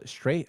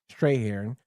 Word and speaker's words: Strathairn: It stars Kevin Spacey, Russell Crowe, Guy Pearce, Kim Basinger, Danny DeVito, David Stray. How do you say his name, Tone? I always get his name wrong. Strahan.